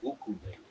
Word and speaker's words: ukulele: The proper pronunciation would be ukulele.